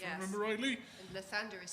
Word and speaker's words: Lathander: This appears to be Lathander, god of birth and renewal, currently scattered in pieces around the Astral Sea.